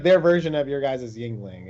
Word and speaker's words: Yuengling: So like Yuengling, am I pronouncing that right? Yuengling? Yeah, you are pronouncing it right.